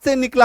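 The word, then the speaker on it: scene: को याद रखना है अगर आपको ये तीन अक्षर एससी के बाद देखने को मिले तो इसका उच्चारण होगा दंत स क्या होगा दन तन्न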